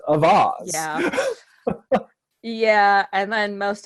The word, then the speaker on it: Auxvasse: sphere of mid-Missouri, is Avaz. It's spelled Auxvasse, and I've heard people call it Oxbossy, but it's actually is one of the few places that's pronounced correctly in French as Avaz.